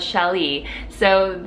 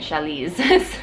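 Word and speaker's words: challis: My pronunciation of chali. So one of my favorite fabrics to sew with is chali, and last week I was calling it chalis. So it is chali.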